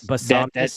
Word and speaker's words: Bisontis: Texas A&M, Chase be on be I it's Bisononis, I think. I don't know. I don't know how to pronounce these names. But Basantis? Is it yes, Basantis?